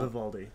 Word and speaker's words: Vivaldi: Vivaldi.